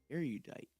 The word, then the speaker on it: erudite: It is spelled e r u d i t e. Okay. Arudite.